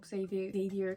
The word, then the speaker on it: Xavier: Anyway, the King of Stuff, the 4th in the Kings of Sin series, and this is following Xavier, how do you say it? Javier, because he's not English. Xavier Castillo and Sloane Kensington.